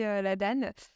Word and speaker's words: l'Adan: la Danane ou laad je ne sais jamais comment on prononce alors on accepte les deux nous on va plutôt prononcer la Dane euh en tout cas